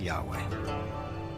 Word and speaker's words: Yahweh: So his title, in a sense, was God, and his name was these four letters, which in English would be YHWH, which we think were probably pronounced something like Yahweh.